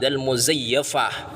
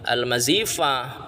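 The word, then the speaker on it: مزيّفة: almazifah almadkur yang tersebut baik almazifah ini salah bacanya salah yang benar itu alasani alasani Muzayyafah itu bukan almazfah. Muzayyafah yang benar.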